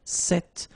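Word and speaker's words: cette: if you listen carefully the masculine form here set and The Feminine form here set you write them differently but then you pronounce them the same way all right for the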